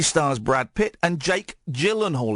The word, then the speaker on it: Gyllenhaal: And Harry, 23, has overtaken dimpled celebs such as movie stars Brad Pitt and Jake Gyllenhaal. It's a soft G.